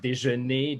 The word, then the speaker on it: Dagenais: my name is dagne i'm a french canadian composer music educator conductor and my last name de it's like breakfast in french but with two letters of difference so dejanee de journee close enough